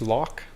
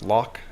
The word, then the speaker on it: loch: Um, say lock. Is that how you say it? L O C H. Lock. It's not lo, right? It's lock. You say it like a K.